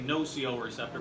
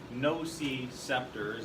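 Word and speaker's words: nociceptor: for pain receptor is I know I say wrong so I say no co-receptor but it's no seed scepters and actually how it's spelled on here so the no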